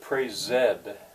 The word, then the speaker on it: praised: prais uh if you pronounce it praise Zed the old fashion way then it's smooth you uh you you have the right number of syllables and I suspect that